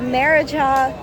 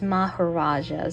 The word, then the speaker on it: Maharaja: Well, I guess according to Google Translate, it's actually pronounced Maharaja.